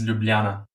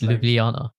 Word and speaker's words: Ljubljana: So the city name is Ljubljana.